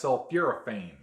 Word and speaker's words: sulforaphane: contains a very powerful anti-cancer chemical known as sulforaphane. I'm pretty sure Something that's how like you pronounce it.